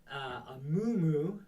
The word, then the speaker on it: Amumu: So today we're going to take a look at the Amumu, or that's how I'm pronouncing it anyways.